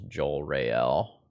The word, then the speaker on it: Jorael: that can try to poke narset there's three syllables Joel Rael rather than a diphthong diphthong is a technical